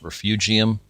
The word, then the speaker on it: refugium: at length here, but it is pronounced refugium. That is kind of a